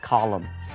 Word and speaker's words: column: a writer for my new travel column。那么有的时候在报纸上面也会有 sports column，评论这种体育的这种专栏叫 sports column。column 也可以当一个表格的纵行，直的行。所以呢，直的行叫做 column，那如果横的列叫做 row，R-O-W。后面来学 excellent，